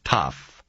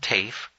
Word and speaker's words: Tafe: number a secretary answered corrected his pronunciation of tough and said he had just caught her on her way out the door this is Ellen Tafe a voice said rhyming the name with wave is um hello Mrs